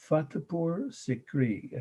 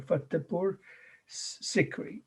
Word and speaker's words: Fatehpur Sikri: here's the name of his new capital city, Fatehpur Sikri. I know that's, I'll say it slowly and spell it twice. Fatehpur, Fatehpur, Fatehpur Sikri, Sikri.